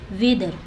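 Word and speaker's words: whether: देख सकते हैं जैसे वेदर ठीक है वेदर वेदर मतलब होता है चूंकि तो यहां पे वेदर एच साइलेंट है और ये टी एच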